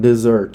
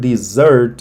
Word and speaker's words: dessert: or in the side or as the main dessert. Okay. And be careful with the pronunciation of the word dessert.